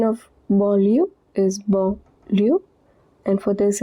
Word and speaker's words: banlieue: Pronunciation of banlieue is banlieue, and for this it is parisienne.